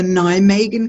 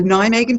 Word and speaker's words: Nijmegen: probably helpful because it's it doesn't sound like you spell it it's n IJ m EG e in like an a megan the town and I'm